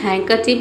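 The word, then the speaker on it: handkerchief: इसमें जो D letter है ये साइलेंट रहता है। Correct from includes silent D. यानी कि इसमें इंक्लूड करना है आपको साइलेंट डी। हिंदी में हैंकर चिप का मतलब रुमाल हो गया। डी बोला नहीं जाता लेकिन लिखा जाता है।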